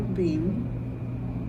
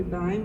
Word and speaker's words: Beim: Is it pronounced Beim or Beim? It's really Beim, but Beim. most people here say Beim, so we made it Beim. I like Beim because that is how it's written, B-E-I-M.